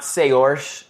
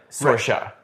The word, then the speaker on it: Saoirse: Yeah, so it's like not Sayorsh, it's like Sorsha.